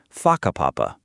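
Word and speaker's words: whakapapa: You'll hear locals casually talking about places like haka papapa, pronounced faka papapa.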